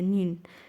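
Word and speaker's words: 니은: So this kyok, and then we have the other one, the second consonant, which is or the nin. Okay, this letter right here, it's pronounced like the letter N in English.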